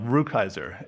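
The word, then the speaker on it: Rukeyser: got the name wrong. Ruckhiser is the correct pronunciation.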